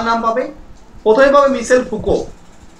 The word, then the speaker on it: Foucault: ঠিক আছে, হ্যাঁ মাইকেল মিশেল, ঠিক আছে, ফ্রান্স প্রাসিলো, ঠিক আছে, ওনার বিরাট বড় নাম পল মিশেল ফুকো, ফুকোল্ট নয় উচ্চারণ, ফুকো, ঠিক আছে, উচ্চারণ হচ্ছে ফুকো।